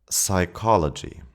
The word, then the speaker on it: psychology: In English, initial P is silent before S, T, or N. Psychology.